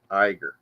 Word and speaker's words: Iger: Iger.